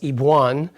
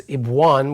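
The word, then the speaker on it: אביון: So the word we're looking at today in phonetics, it essentially is pronounced Ibwan, or kind of sounds like Yvonne, but it's Ibwan with a B.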